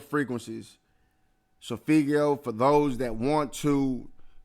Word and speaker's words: solfeggio: on your phone, you can program these certain Sophigio frequencies to do what they're supposed to do and tune your body into the healing that you need to continue to grow. So once again, the Sophigio frequencies, Sophigio, for those that want to Google and learn